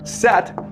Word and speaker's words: Set: But his brother, Set, it's pronounced Seth, okay, but it's spelled Set.